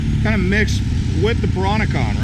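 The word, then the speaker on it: Peranakan: You get a lot of people from, they're called the Peronicons. They're the first people that were here. So that's pronounced Peronicon.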